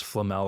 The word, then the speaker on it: Flamel: to remember it is it's Flamel like Nicholas Flamel and Harry Potter yeah that I saw